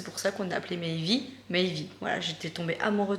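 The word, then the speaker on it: Meivy: Donc en fait, on a modifié et on a regardé comment ça s'écrivait en français, la même prononciation du mot Maëvy. Donc M-E-I-V-Y. Donc c'est pour ça qu'on a appelé Maëvy, Maëvy.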